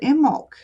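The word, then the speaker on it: Imbolc: Is it Imbulk that just passed? Yes, I imbul. And um I was told a lot of people pronounce it immul supposed to be the B is silent.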